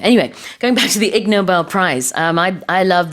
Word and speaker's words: Nobel: Noble is the stress is on the first syllable, but the Nobel Prize is usually the second syllable. Nobel Prize.